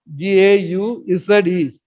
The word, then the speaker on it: gauze: Like a gauze, G-A-U-Z-E. G-O-G-A-U-Z-E. Pronounced as gauze.